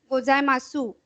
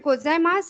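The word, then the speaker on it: ございます: This SU is pronounced S. Somewhere they pronounce it su also, gozaimasu. But gozaimasu is the correct wording.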